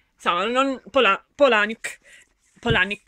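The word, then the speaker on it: Palahniuk: la pole a nick polani come dice lui dice non si dice palaniuk ma si adatta perché la gente apparentemente sbaglia a pronunciare il suo cognome ma è che siano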